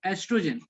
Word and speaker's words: oestrogen: First O is silent, beta. O is yes, OESTROGEN, estrogen and progesterone.